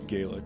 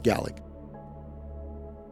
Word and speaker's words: Gaelic: G yeah yep well we in America say gaic but G yeah yeah that's because we're saying it wrong okay that's fair it's GIC